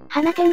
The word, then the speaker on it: 放出: これって明らかに放出だよな小学生でも読めるぞまったく私を舐めすぎだぜああこれは放出じゃなくて花店って読むのよ a ぷぷぷれい